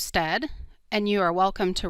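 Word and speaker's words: usted: things if you notice Ed can be spelled out completely or it can be abbreviated as shown in parenthesis either way it's pronounced Ed and you are welcome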